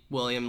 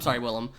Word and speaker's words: Willem: At one point, like, he's facing off with Willem Dafoe and Sandra Bullock's there, and then all of a sudden William, like, laughs. I'm sorry, Willem.